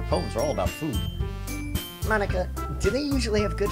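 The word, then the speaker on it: Monika: is the ball huh that's not how you say my name at all also that joke makes no sense in translation ha ha ha ha it doesn't because it you say Monica instead of Monique oh no it's mine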